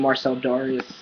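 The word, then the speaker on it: Marcell Dareus: His name is actually Marcel Darius.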